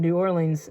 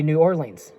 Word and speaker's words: New Orleans: in the city of New Orleans in Louisiana is actually supposed to be pronounced. A lot of people here say they say New Orleans, but actually it's New Orleans because it's French.